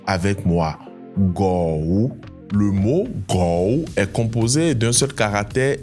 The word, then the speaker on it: 狗: Le mot chien en chinois se dit go. Écoute bien et répète avec moi. Go. Le mot gou est composé d'un seul caractère et se prononce avec le troisème ton. La voix descend puis remonte légèrement.